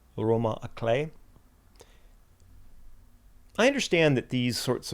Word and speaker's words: roman à clef: If anyone lifts a brow, I can call the book a roman à clef, which the internet suggests I should pronounce as roman à clef.